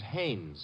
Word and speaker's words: Haines: war fishing so i what did you say his name is haynes h-a-i-n-e-s well as your fellow named heinz used to fish no no not heinz haynes couldn't be honest no